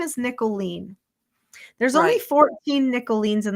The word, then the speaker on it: Nicholeen: to remember it and they call me niolet instead of nicolene because that seems like